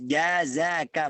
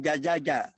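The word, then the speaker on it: جزاك: bertemu salah ngasih koran harus jazaka bukan Zaza jazaka Hehehe aku begitu coba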